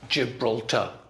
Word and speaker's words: Gibraltar: gibraltar we're in gibraltar english is very much a rhythm stressed language some languages are syllable stressed like gibraltar and every syllable is stressed the same gibraltar in english it's gibraltar okay we may have